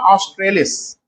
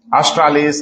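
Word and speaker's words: australis: Arora ऑस्ट्रेलिस। ऑस्ट्रालिस, ऑस्ट्रेलिस, pronunciation अलग अलग हो जाता है।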